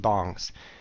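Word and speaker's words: 방: They were called PC bongs. Don't ask me why. It's B-A-N-G. It's spelled like bang, but they pronounce it bong because they don't have that weird A sound in Korean.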